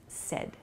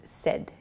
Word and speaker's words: said: correct so please use sed it sounds like s-e-d the pronunciation but it's said s-a-i-d